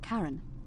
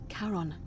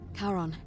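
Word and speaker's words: Charon: it's just as you described it only your pronunciation is a little off the name you heard wasn't Karen it was c h a r o n as in Caron the ferryman of the Dead karon who in exchange for the right coin helps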